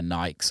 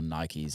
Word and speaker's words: Nike: There's, like, some of us wear Nikes or Nikes, as Americans say.